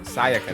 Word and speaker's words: Sayaka: Sayaka, that's how you So say it.